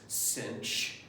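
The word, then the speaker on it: sinh: Some people pronounce this cinch.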